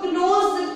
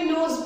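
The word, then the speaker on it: knows: तो यहाँ पे नोज, यहाँ पे के है, बहुत सारे लोग इसको क्लोज प्रोनाउंसिएशन करते हैं, नो प्रोनाउंसिएशन रॉन्ग है ये वाला, क्योंकि यहाँ पे के जो है इट इज साइलेंट, तो इसको भी हम नो पढ़ेंगे और इसको भी नोज पढ़ेंगे।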